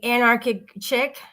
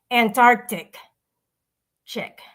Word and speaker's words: Anarchic Chick: He says, he says Antarctic, like the Arctic, but Antarctica, like he combines the Arctic, Antarctica, and Anarchic Chick all together to come up with Antarctic Chick. AC says Chick, whatever. I don't even know if he realizes he's saying it wrong or if he's just trying to be cute.